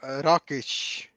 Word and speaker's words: Rakić: is how do you pronounce racket's last name raikage rakit Rak Rakesh Rafiki how do how do you pronounce that alexand rockish Ro there you go there you have it